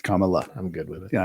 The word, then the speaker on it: Kamala: how you say it Kamal La ohal Kamala no it's Kamala I'm good with it